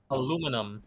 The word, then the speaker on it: aluminium: Aluminum. Aluminum, baby. Aluminum. Another way people pronounce it. Aluminum. Aluminium.